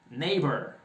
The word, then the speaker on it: neighbor: your pick no more e esse gh não pronuncia só disse nem your neighbor i hope she is